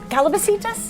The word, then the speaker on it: calabacitas: So, let's start with the calabacitas.